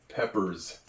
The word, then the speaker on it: peppers: write Peppers it's interesting in English you'd think it would be with a Z on the end of it but it is not the S at the end of a word a lot of times makes the z sound Peppers it's a s